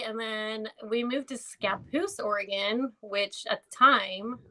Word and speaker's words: Scappoose: And then we moved to Scappoose, Oregon, which at the time, so like 24, 25 years ago, it was super, super white.